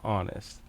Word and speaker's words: honest: With the word honest. They tried to trick me with a silent H.